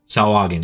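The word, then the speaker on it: Sahuagin: How do you pronounce that? Sawagin? Sawagin, yeah.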